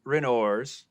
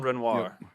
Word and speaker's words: Renoir: down behind the trenches this week with Gene renors oh God what is it again John what spell it out r-e-n-o-i-r-s Renoir so just literally no like yeah I